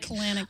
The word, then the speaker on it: Kalanick: Kalanick. It kind of rhymes with colonic.